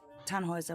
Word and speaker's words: Tannhauser: Tanhauser. We'd pronounce it Tanhoer with an um German roots.